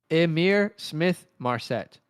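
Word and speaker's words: Ihmir Smith-Marsette: He says the pronunciation is Emir Smith Marset. Emir Smith Marset. Emir Smith Marset. Say that 6 times fast. Amir Smith Marset.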